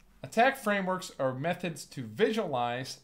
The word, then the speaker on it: ATT&CK: against them there's several attack Frameworks that we might use one of them is the miter attack framework it's the miter ATT and CK which is usually just pronounced as attack has 14 different techniques